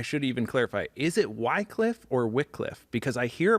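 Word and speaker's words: Wycliffe: I need to know how to you know pronounce this the right way okay we say wickcliff Wickliffe okay a soft ey why soft why yeah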